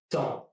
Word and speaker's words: temps: Temps. Le temps. Here, the P and the S are both silent, which gives me only temps and not temps.